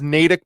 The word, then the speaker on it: Natick: the natick police department starts and it is pronounced natick by the way i know because my brother